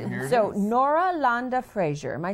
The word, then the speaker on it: Frazier: Say it the way you would say it in your country. Nora Landa, and then the Frazier, because that's just the American pronunciation.